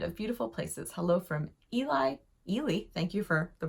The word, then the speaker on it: Ely: is a land of beautiful places hello from Eli Ely thank you for the pronunciation guide hello from Ely Minnesota I like